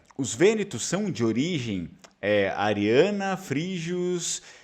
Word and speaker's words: vênetos: eu falei para vocês, os próprios gregos lá da antiguidade, no tempo da guerra de Troia, já chamavam eles de ênetos. Só que o grego antigo não pronunciava a letra V, assim como o latim, né? Então, na verdade, eram vênetos, tá bom?